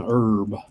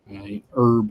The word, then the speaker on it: herb: why yeah um and herb herb is the same way that H is silent so you're you're supposed